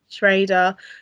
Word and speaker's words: Schrader: pronounced Schrader, that's correct.